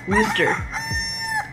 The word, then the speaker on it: Worcester: then Fort Lauderdale to Worcester, is that how you say it? Massachusetts. It sounds like rooster. Worcester.